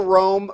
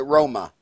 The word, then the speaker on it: Roma: no do you call Rome robots yes you you pronounce it Roma right roll oh my oh my yes Roma Oh only Americans call it rome roma but i ain't